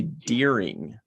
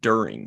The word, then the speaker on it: during: like And a continental type of another weird one is people that say deering instead of during.